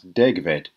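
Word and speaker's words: degfed: And then the Welsh, in Welsh, one F is pronounced V, so that's degved.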